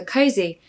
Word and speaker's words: cosy: great pronunciation tip for cozy you'll notice it's not an S even though it's spelled with an S it's actually a z a zed so cozy